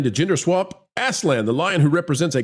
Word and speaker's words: Aslan: Usually Aslan with a Z as opposed to the S, but I think you're probably fine.